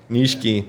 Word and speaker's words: Nishiki: to say yeah yeah nishiki that's how you pronounce it in japanese but it's my fault